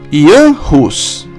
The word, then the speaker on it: Jan Hus: Antes de tudo, devemos observar a pronúncia correta de seu nome, uma vez que, em alguns idiomas, a letra J é pronunciada como a letra I e a letra H como R. Desta forma, devemos chamá-lo Jan Hus.